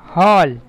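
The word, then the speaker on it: hall: মানে বল তারপরে এইচ এ এই ডবল এল হল হল মানে হল ঘর হল ঘর কোনটাকে বলে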